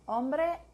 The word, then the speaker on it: hombre: H is silent. Hombre, hasta hablar.